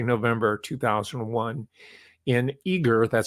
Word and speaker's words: Eagar: Let's just say November 2001 in Eagar, that's spelled E-A-G-A-R, Arizona.